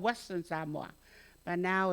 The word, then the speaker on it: Samoa: And so tonight we're going to talk about, and by the way, how you pronounce my country, it's not Samoa, it's Samoa.